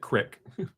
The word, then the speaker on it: creek: Well, Keith, because you're asking me, I know how to pronounce the word, but I call it crick. I do not normally say creek, but I do pronounce it crick.